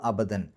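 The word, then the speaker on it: أبدا: ഇനി അവിടെ നിർത്തുകയാണെങ്കിലോ, അപ്പോൾ അവിടെ അബദൻ എന്നുള്ളിടത്ത് അബദാ എന്ന് പറഞ്ഞിട്ടാണ് നിർത്തുക. കാരണം ഫത്ഹ് തൻവീൻ ഉള്ളൊരു സ്ഥലത്ത് പാരായണം നിർത്തുമ്പോൾ അത് ഫത്ഹ് ആക്കിയിട്ട് 2 ഹർക്കത്തിൻ്റെ ദൈർഘ്യം നീട്ടണം. അപ്പോൾ അബദാ എന്ന് പറഞ്ഞിട്ടാണ് അവിടെ നിർത്തുകയാണെങ്കിൽ നിർത്തേണ്ടത്.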